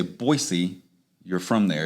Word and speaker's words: Boise: because if you say boise you're from there if you say boise with a z yes they know you're